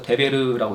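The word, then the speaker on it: דֶּבֶר: 근데 발음 기호만 달라서 데베르라고 이렇게 표현하는데 하나님의 말씀과 관련이 있는 것입니다.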